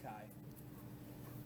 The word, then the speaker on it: chi: it's spelled CH hii so it's spelled like Chi all right but it's pronounced Kai Kai squar goodness with